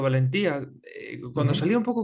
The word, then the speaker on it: Valentía: No sé, ¿es con acento en la I o Valentía? Como Valencia, pero con T, no lo sé. En verdad es valentía, pero podría Valentía.